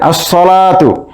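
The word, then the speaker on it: الصلاة: আল হুরুফুল কামারিয়া এরপরে আসসালাতু এখানে আলিফ লামের লাম উচ্চারণ হচ্ছে না তাই আমরা এটিকে বলতে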